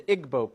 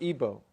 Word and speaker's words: Igbo: Because in Nigeria you have the Igbo people or Ibo pronounced either way.